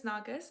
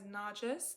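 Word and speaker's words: Nargis: But yeah, my real name is Nargas. I do get it pronounced as Naris 90% of the time just because it is an Arabic name. But because I'm so used to hearing Naris, I'm totally okay with any.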